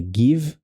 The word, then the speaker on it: give: E aqui a gente percebe que o E não tem son, é give. E se você fala give, não fala give, não fale give. É give. Give.